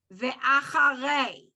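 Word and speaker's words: ואחרי: That A also, when the A vowel and the E vowel are paired with a yud afterwards, you don't need to pronounce the yud. Unless the yud has a vowel.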